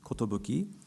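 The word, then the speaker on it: 寿: which means longevity or good wishes, and is pronounced in Japanese, kotobuki, the title of the current exhibition.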